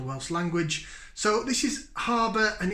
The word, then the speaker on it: Harbwr: this brewery is called harbour brewing harbour brewery envy enterprise tembi harbour brewery harbour spelt with a w instead of you see i think the